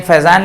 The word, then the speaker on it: Fajan: rule, F-A-Z-A-N या कई बार F-A-J-A-N, दोनों ही स्पेलिंग चलता है। F-A-J-A-N फैजान लिखिए या F-A-Z-A-N फैजान लिखिए।